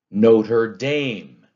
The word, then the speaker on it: Notre Dame: Notre Dame. That's an anapest too. Notre Dame. Two unstressed syllables, then a stressed.